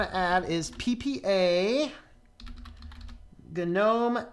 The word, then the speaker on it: GNOME: in the comments you know it's either gun gnome is the first correct pronunciation it is from the good new window